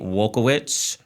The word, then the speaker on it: Wielkiewicz: It is Nate Wielkiewicz. Did I pronounce that right?